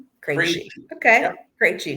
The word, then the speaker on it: Krejci: asked our viewers and somebody sent in the pronunciation for me. It's Krejci. Krejci.